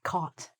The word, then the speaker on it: caught: Because the pronunciation is just like this, caught.